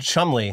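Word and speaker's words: Cholmondeley: the Marchioness apparently of it's called Chumley. That's how you pronounce it, which is, that's, no.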